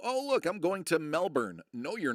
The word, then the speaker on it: Melbourne: Because I had somebody that was from uh, Melbourne, Melbourne. The first thing he ever corrected me was how to pronounce Melbourne. It's not Melbourne.